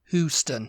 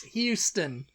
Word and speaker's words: Houston: It's Houston. You would need like a Hughston to pronounce Hugh, it like Hugh.